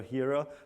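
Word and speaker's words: Hiera: have here ur and I have heard I don't know how many pronunciations of that I prefer hero so if you don't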